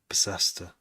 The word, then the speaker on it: Bicester: That feels like it should be pronounced differently. Bicester.